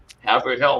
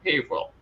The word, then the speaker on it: Haverhill: And I was actually trying to help everybody try to pronounce towns in Massachusetts to like Haverford Hill. I'm like, no, Haverhill. Stop.